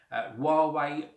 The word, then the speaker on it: Huawei: is the Huawei and that is the correct pronunciation Huawei P10 awesome very very cool uh product packaging